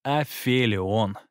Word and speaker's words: афелион: к солнцу на орбите наиболее удаленная точка от солнца называется афелий или а филлион я слышал и такой вариант произношения пусть он будет здесь